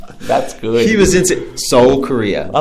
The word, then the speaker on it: Seoul: Is it Seoul or Seoul? Seoul. It's just Seoul. It's Seoul. Yeah. I pronounced the E.